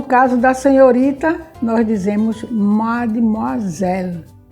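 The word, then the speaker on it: mademoiselle: a palavra mess e madmazel a gente não diz o é também a gente eleva a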